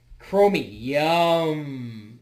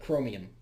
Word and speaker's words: Chromium: Google Chrome is based chromium chromy yum that's not how it's spelled but chromium you know like the element anyway it's a very